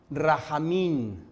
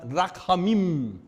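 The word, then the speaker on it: רחמים: La palabra hebrea misericordia es rahamim, pero se pronuncia rachamim y tiene su raíz dos palabras, útero y lejano.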